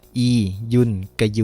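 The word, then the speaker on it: อียุนกยู: ไม่ น้อย แต่ แล้ว อีน กิว คล้าย ๆ กับ ลังเล ก่อน ที่ จะ พูด ต่อ ชื่อ อ่าน ยาก เ นะ ทุก คน อี ยุน กยู นะ ครับ ผม ออก เสียง กล้ำ ไป เลย นะ อีกู นะ เอ่อ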